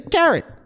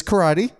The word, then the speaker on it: karate: as our audience hopefully knows, it is not pronounced carrot. You have a bad rep with friends giving you advice. Oh yeah. They all get me. Obviously, it's karate, not carrot.